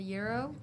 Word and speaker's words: gyro: And I had a gyro. Is that how you say it? Yeah. Gyro A euro.